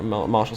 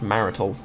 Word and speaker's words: martial: because you're you're my martial skill yeah good there was a time i pronounced this marital which is a thing